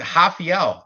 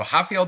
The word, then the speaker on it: Rafael: to our main event um we've got rda rafael dos anos 37 years old big age difference here yeah it's a hafiel los angeles against yeah r for fizzy you pronounce the r for raphael and h if